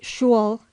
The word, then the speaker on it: school: NB vulgarly pronounced shul in the west of England puddings and mistletoe and